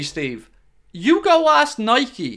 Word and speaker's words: Nike: spelled Nike not Nike no no the correct pronunciation 100% is Nike you can apologize to me later buddy but the correct pronunciation is Nike I mix between the two depending on the